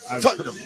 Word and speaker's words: Tottenham: go to Westwood onsports.gr totenham I think that's the official pronunciation of that Stadium tutam yes correct my apologies you should